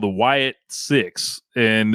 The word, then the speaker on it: Sicks: group called The Wyatt 6 and this is spelled six like s i c k the number six on there um I